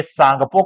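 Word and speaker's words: Tsangpo: Mekong नहीं सालविन नहीं इरादे इरावदी नहीं उसे सांगपो कहा जाता है जिसमें टी साइलेंट हो जाता है।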